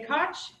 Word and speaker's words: Koch: I'm Koch, and rhymes with Scotch.